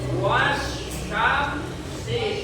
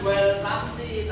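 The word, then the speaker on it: والشمس: Syin wasyamsi bukan wal syamsi tapi masuk pada huruf.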